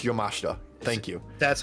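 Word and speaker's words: Yamashita: I know it's different, but I'm gonna it up either way. Blast kicks in this was insane. Is it Yamashta? Yes, it's Yamashta.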